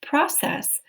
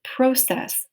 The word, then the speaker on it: process: Now that could be pronounced process. You could also pronounce it process, which means to move forward. That's a verb, process.